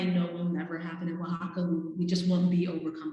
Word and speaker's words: Oaxaca: you spell it right same with oaxaca it's actually o a x so just so you know um from the english standpoint it doesn't sound anything like the way it's spelled but um when i was